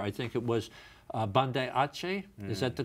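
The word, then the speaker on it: Banda Aceh: Uh I remember uh in 2004 I think it was uh Bandai Ace is that the correct pronunciation?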